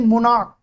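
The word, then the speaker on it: monarch: क्या लग है च सी एच को च पढ़ते हैं लेकिन इसका उच्चारण बदल गया। इसे हम लोग बोलते हैं मोनोक।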